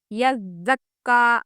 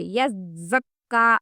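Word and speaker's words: يزكى: سمجھنے کی کوشش کیجئے۔ یزکا میں زا سختی سے پڑھنا ہے، یعنی کہ دونوں دانتوں کو ملاتے ہوئے، یزکا سختی کے ساتھ، یذکرو، یذکرو، یز میں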